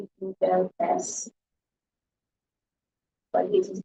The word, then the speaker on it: DIBELS: So it's DIBELS, but it is pronounced tables, not dialogues, but tables.